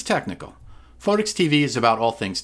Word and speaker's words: Photics: Photics …which sounds a lot like Physics. Photics means the science of light, especially in areas of water that are affected by sunlight. But here... it's technical. Photics TV is about all